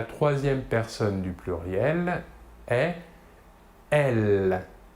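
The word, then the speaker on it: elles: Et le pronom personnel sujet féminin de la troisième personne du pluriel est elle. Même chose que pour le masculin, la S finale ne se prononce pas.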